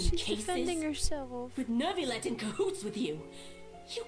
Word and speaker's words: Neuvillette: I can't believe Neuvillette allowed them into the Nervil- court of Fontaine just Nerv- like that. Neuvillette. Why'd she pronounce it like that?